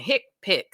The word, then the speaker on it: HCPCS: select hipic codes so notice I've been saying hick pic so it is pronounced hi i c p i CS these